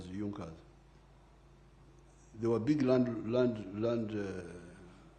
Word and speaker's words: Junkers: It is written junkas but they pronounced it as Junas.